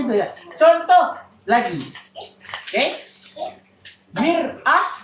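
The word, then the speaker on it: مرآة: Mir'ah dengan mar'ah. Baris bawah dengan baris atas.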